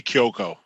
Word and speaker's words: Cuoco: How do you pronounce her last name? I say Kyoko. That's how I say Kyoko, it.